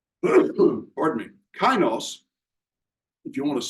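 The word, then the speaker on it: kainos: Greek word is the word K pardon me kinos if you want to spell it out it would be k a i n oos and that refers to new in quality or new in character and kinos is the word that is always used through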